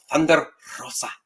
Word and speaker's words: Thunder Rosa: it with the r Thunder Rosa you have to roll your RS Spanish in high school